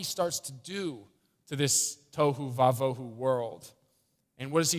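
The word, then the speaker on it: תֹהוּ וָבֹהוּ: And it's a term that you can actually remember because it rhymes, so it's nice. Tohu vavohu, without form and void. Tohu vavohu.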